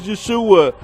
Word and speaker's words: Yeshua: His real way to pronounce his name is Yeshua.